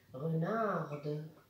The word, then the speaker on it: renarde: Renarde. وهنا لازم ندير ملاحظة باللي لا كونسون اللي كانت ميات في الماسكولين تنطق في الفيمينا لأنه زدنا لها الأو. دونك كان renard كان حرف صامت يرجع renarde يولي ينطق.